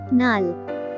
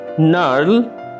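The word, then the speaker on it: gnarl: Silent letter জি। নাল, নার্ল, গ্রন্থিল হওয়া। নাল, গ্রন্থিল হওয়া। এখানে মার্ক করা জি লেটারটি সম্পূর্ণভাবে অনুচ্চারিত থেকে যাচ্ছে।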